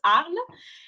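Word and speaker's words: Arles: one of the hardest cities for you to pronounce theater so this is mute not arms arle is very close to my heart it is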